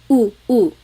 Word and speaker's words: u: And then letter U is an U sound, U. So ulan, upuan, rain and chair, U. Not like under or umbrella. The letter U in Tagalog has an U sound.